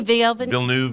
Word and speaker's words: Villeneuve: From Matthew Medina, in 10 years, Batman Beyond with Villeneuve, I always say his name wrong. Denis Villeneuve and thank you.